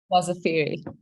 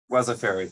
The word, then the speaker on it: Wasafiri: Sana Goyal is Wasafiri's, sorry Sana, I should have asked you how to pronounce Wasafiri. Is it Wasafiri, Wasafiri? Wasafiri. Wasafiri, thank you.